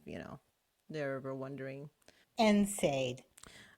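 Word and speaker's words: NSAID: know they're ever wondering enade okay so enade is a class of medications that decrease swelling and Molin or ibuprofen is a part of them right and it's spelled NS a i d which is nonsteroidal anti-inflammatory drug right so they came out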